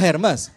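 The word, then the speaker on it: Hermès: lagi apa apa oh Hermes keremes kalau herpes apa Ah paham paham paham ya sakit kulit ya Ah itu herpes ya kalau tas anda malu-maluin anda cara bacanya enggak begitu herme di rumah saya banyak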